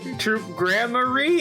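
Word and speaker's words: Troupe Gramarye: you don't know about troop grammar troop grammar oh there's our pronunciation of course they give us the pronunciation all this time later troop gramar uh no but it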